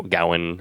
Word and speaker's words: Gawain: godwin is his name i always pronounced it gawain but based on wait you're right based on this movie they say like go gowan or whatever dude whenever they